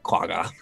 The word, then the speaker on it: quagga: And he is going to look at the quagga. Quagga. That's a more Underdark appropriate pronunciation.